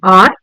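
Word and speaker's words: hour: Because H over here is silent and we pronounce the word R with a vowel sound.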